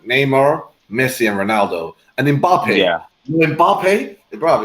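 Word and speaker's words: Mbappé: Messi, and Ronaldo, and Mbappe. Yeah. Mbappe, bro, it's not Mbappe, it's Mbappe.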